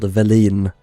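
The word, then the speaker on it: Welin: They're called Valin. Like a val but valin. That's how you pronounce it.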